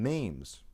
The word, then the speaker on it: memes: Dawkins coined the term memes, rhymes with dreams, for ideas that are replicators.